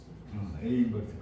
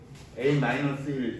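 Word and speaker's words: a⁻¹: A 인버스 그렇게 읽어야 돼요. a 마이너스 1 이렇게 읽으면 안 돼. a 마이너스 1은 뭐를 읽을 수 있는 거지? 이거예요. 그러면 a 인버스라고 읽으셔야 돼.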